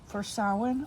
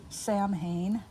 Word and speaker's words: Samhain: So what I'm going to do in here is basically a spread for Samhain, or as many people mispronounce it, Samhain, which is the pagan observance that Halloween is based upon.